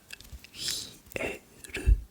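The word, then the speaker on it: 冷える: Ça se prononce hieru.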